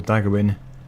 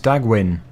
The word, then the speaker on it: Dagwin: Dagawin, you are already carrying this type of equipment. We got my name wrong. Our name is Dagwin.